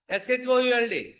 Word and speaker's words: should: So ఇంకా SHOULD.